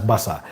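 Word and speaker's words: Barça: And ordinarily in Uganda we pronounce it as baka. I understand you pronounce it as basa.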